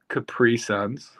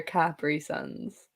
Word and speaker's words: Capri Sun: How did you pronounce Capri Suns? Capri Suns. They're Capri Suns. That is how I'm like, I'll die on this hill. It's pronounced Capri Sun. It's the commercial.